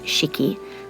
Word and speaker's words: 式: Japanese character here meaning ceremony or ritual it's pronounced cheeky and of course like all Japanese characters it